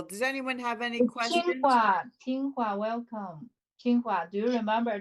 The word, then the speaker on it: Tsinghua: Yeah, Qinghua. Yes, Tsinghua. that's the correct pronunciation.